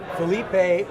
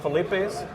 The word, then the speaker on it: Philippe: So it's Felipe or Philippe? We call it Philippe's. Most people, half people call it Philippe's. So we don't care how you pronounce it as long as you keep coming.